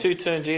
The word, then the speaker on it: Toutounji: It's Taturngyi. It's very easy, actually, but that's why I